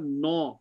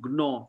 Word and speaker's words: gnaw: Now G is silent in the GN group.